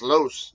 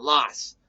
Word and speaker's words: Los Angeles: know L OS is pronounced loose not lost this you know pronounce it Lots so to me that's a pet peeve but for everyone else you know most Americans they everyone else tends to pronounce it lost Los Angeles even though it's not correct that's why that happens